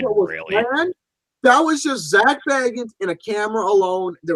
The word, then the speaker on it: Zak Bagans: Zak Bagans. I wonder if Frodo Baggins helped him out of there. Well, it's pronounced Zak Bagans, but all right.